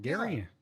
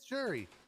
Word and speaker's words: Jerry: name again oh again is it gary no it's jerry but one of the